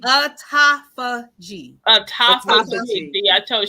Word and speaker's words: autophagy: I don't know how to pronounce Autography. that word. Autography, is that the word? Autography. Autography. Autophagy. Autophagy.